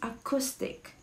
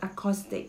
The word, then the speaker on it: acoustic: all right it's acoustic acoustic hindisha acoustic all right no no no it's not acoustic it's acoustic okay acoustic is used to